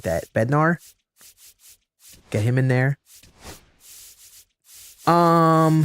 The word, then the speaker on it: Bednar: We'll get the Bed Beder in here. Why I say it like that? Bednar.